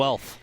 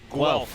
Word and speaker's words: Guelph: Guelph. Guelph with a W sound.